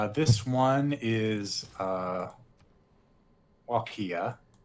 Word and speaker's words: Wallachia: This one is Walkia. Spelled... I have to actually look at it again. Yes, please. Spelled like wall. W-A-L-L. Wal... A-C-H-I-A. Wallachia. Wallachia. W-A-L-L-A-C-H-I-A. Correct.